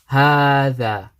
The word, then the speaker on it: هذا: we mentioned previously, that there's a alif here which is pronounced but not written, we need to say هذه. Same way we say هذا.